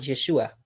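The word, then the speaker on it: ישוע: En hebreo se escribe, o se pronuncia, mejor dicho, Yehoshua, y el arameo es Yeshua.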